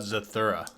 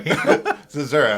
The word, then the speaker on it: Zathura: Yeah, last time we spent like the whole episode just talking about Zathura. Zazura. Sorry. Zazura. That's how you pronounce it.